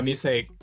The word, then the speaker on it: Musaic: Yeah, Musaic.